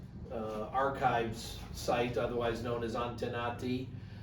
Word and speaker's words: Antenati: Antenati. How do you spell it, do you know?